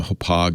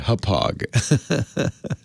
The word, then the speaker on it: Hauppauge: Hopog is a good one. I almost hate saying it because it's a worst company name in history, named after the Long Island town where they started. No one can spell it. Hauppauge.